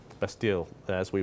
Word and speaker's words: Bastille: He was even in the bastille - bastille as we pronounce it - but bastille in French and was there two days before the uprising, where the peasants revolted and took the bastille.